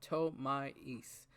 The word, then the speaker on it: Ptolemaeus: We're gonna not pronounce the P. We're gonna go Ptolemaeus. Teller Knight Ptolemaeus.